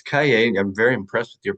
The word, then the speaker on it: Cailler: And ironically, which is kind of a funny thing for a writer, is Cailler with a different spelling, but exact same pronunciation means notebook.